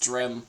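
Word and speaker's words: Strym: It's um well s t r y m. Oh yeah, it's just strim. It's just it's just pronounced exactly how you would expect but just bad.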